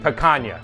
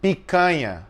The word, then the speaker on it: picanha: Of course, it starts with picanha. Yes. And then, please say it properly. How do you say it properly? Teach me. Picanha.